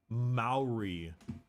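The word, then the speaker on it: Māori: talismans they they have a lot of like Maori that's how it's pronounced stuff going on yeah yeah yeah happy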